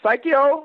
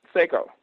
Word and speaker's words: Saiko: i know somebody can call my name wrong uh psycho i'm like no seiko yeah just give me